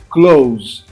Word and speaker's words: close: O verbo fechar, close. Veja a pronúncia deles, ó. Live, have, close. Eu não pronuncio o e.